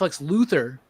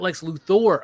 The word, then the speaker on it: Lex Luthor: It's it's it's pronounced Lex Luthther, not Lex Luthor.